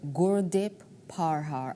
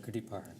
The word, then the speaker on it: Gurdeep Parhar: Gurdeep PARHAR. Am I saying it right? That's perfect. Gurdeep PARHAR.